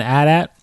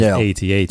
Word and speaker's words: AT-AT: so is it is is there a proper way to say call it um or is it improper to call it an add at yeah he said well because we're fans of Star Wars I wouldn't tell you that it's wrong to say add at but the proper way to say it is AT-AT of course yeah I